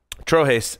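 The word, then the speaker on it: Trojes: I thought I knew how to pronounce it, and apparently I don't. Trojas. Thank you. Trojas sounds better.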